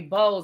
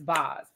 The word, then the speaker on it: Boz: I keep wanting to say Bose and it's Boz.